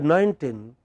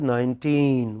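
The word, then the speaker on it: nineteen: In the first word 19, which part of the word is stressed? Teen. But by mistake we pronounce it as 19. It is not 19, it is 19. What is it? 19.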